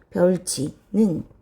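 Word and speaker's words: 벼훑이: 그러면 벼훌 하고, 자, 여기 있던 티읕과 이가 만나서 치읓으로 바뀝니다. 벼울치.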